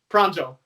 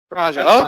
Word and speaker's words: Pranjal: Yeah, yeah, just pronounced exactly as it's written. J is a J, not a, yeah. It's not silent. Not silent, yeah, not a H sound as it is in Spanish, which is, often people call me Pranjal around here.